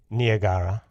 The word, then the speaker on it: Niagara: either especially judging from the opening line to Niagara the cataract of Niagara properly pronounced Nia Gaara or Anya Gaara is as fatal as it